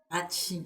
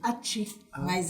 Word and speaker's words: Achtschin: É ACHTSCHIN. Olha Atim. Atim. Aí, né, todo mundo fala Ati. Mas tem uma forma correta de pronunciar.